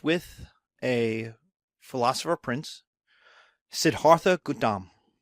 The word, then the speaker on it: Gautama: So, Buddhism starts with a philosopher prince, Siddhartha Gautama. Even though it's spelled Gautama, I've had Indian students tell me it's Gautama.